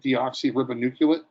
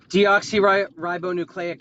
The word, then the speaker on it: deoxyribonucleic: having a moment today I think it's like deoxyribonuculate I have that pronounced right deoxyribonucleic acid thank you I'm having a